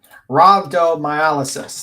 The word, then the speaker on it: rhabdomyolysis: Yeah, after being diagnosed with potentially fatal condition called rhabdomyolysis.